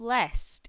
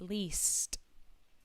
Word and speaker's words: least: my favorite ones here be careful with that little pronunciation of least it is not lest it is least so this is a